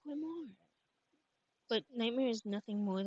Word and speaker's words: grimoire: Yes, it's a book of magic known as a Oh, I'm pronouncing it wrong. It's pronounced grimoire.